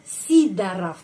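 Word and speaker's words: Сидоров: keluarga ini sorov ya sidorof bacanya sidaraf Kenapa karena penekanannya pada huruf i sidaraf sidarf kalau kita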